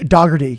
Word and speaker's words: Doherty: So I was like, Doherty? Like Irish? Doggerty, yeah.